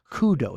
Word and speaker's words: Kudo: So it's karado, but you don't say that in Japanese. You call it kudo. It changes when you put only 2 together. So the pronunciation changed.